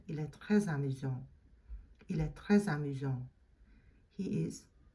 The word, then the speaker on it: très amusant: Make sure that you do the liaison on that S. Because amusant starts with a vowel, so you're going to pronounce that S and it's going to sound like a Z sound.